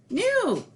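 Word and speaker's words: nous: pronounced which means we but it's pronounced new get it so that's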